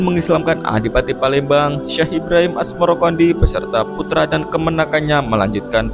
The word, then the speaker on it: Asmoroqondi: atau Maulana Ibrahim Asmoro sebutan itu mengikuti pengucapan lidah Jawa dalam melafalkan asamarkandi yang kemudian berubah menjadi asmorokondi nama asmorokondi sendiri dipercaya